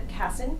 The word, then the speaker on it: Kassen: I am interviewing Melinda Kassen. That's how you pronounce it?